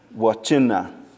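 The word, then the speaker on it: Wvcenv: So the syllable breaks is it would be WV syllable, CE syllable, NV. Or some people will put CEN as one syllable and then V by itself. It really doesn't matter. So we go wa, and then chin or chi, and then na. Wachina.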